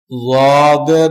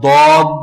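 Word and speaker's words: ض: আমালুস সুন্নাহ কিতাবে বর্ণিত কোরআন তিলাওয়াতের প্রচলিত ভুল সমূহের মধ্যে যাদের উচ্চারণটা একটু বলে দিলে উপকৃত হব। যাদ, এটা দদ না, আমাদের দেশে বলে দদ, অক্ষরটা দদ না। আর একদম জদ না, একদম জদ না, মাঝামাঝি।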